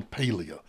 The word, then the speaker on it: Paglia: to spectator dot Us and search for Camille Paglia now if you've listened to me before you